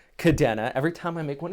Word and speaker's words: Kadena: out here in japan if you spoke japanese you would know the e here on kadena would be an i if you pronounced it kadena the way i know